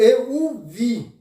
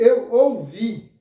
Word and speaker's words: eu o vi: Agora, cuidado, muito cuidado na pronúncia. Quando você fala eu o, que representa o artigo o, eu o vi. Para não confundir com dizer eu ouvi.